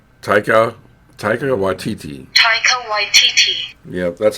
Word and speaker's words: Taika Waititi: it yeah and it repeats itself saying taika taika waititi yep that's how it's pronounced yeah i still don't trust that robot